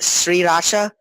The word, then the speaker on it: Sriracha: Was the fact that also Sriracha is pronounced what is it, Sriracha? I don't know. Sriracha. Sriracha. It's like it's three full syllables, and you're supposed to say them like very separated.